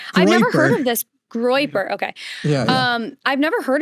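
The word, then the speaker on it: Groyper: that he is a part of this like groper community. And I like the mistake there, the Freudian mistake. What? You call it the groper community. Oh, how do you say it? I've never heard of this. Groiper.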